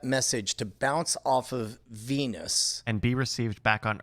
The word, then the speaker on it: Venus: And I'm going to say if Venus is closer than the sun, I'm going to say 3 minutes.